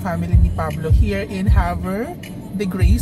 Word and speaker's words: Havre de Grace: ni Pablo here in hav the grace So yun pala ang tamang pronunciation hindi siya hover hover the Grace hindi ko natanong kung